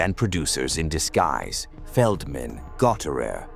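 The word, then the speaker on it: Gottehrer: Feldman, Gautter, pronounced Got Air, and Goldstein.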